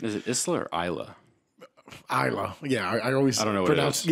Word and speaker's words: Isla: Isla. Yeah, I always don't know what pronounce. It is. Yeah, Isla is better because I always pronounce the S, and the S don't.